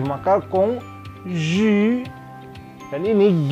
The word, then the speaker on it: conjugué: Yang kedua adalah verbe conjugué. Conjugué, C-O-N, on. On ke atas, bukan on. Ya. Bukan ke bawah, ke atas, on. J ketemu U, maka conjugué.